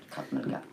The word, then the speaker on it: Krav Maga: On a dit le Krav Maga. J'ai bien prononcé? Tout à fait, Krav Maga.